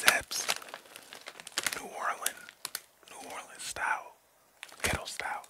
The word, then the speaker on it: Zapps: It's Zaps. I ain't know how to pronounce it at first, but it's Zaps.